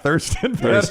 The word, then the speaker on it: Thurston: Is it Thurston or pronounced Tristan? It's spelled Thriston, but it's pronounced Tristan. But I like Thurston.